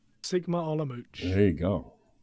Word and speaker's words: Sigma Olomouc: Sigma Olomouc.